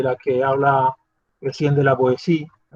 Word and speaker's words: La Boétie: que habla Etienne de la Boétie, se dice la Boétie, ¿vale? Que he oído por ahí cada pronunciación que da susto. Es francés y la T seguida de I pues se hace blanda.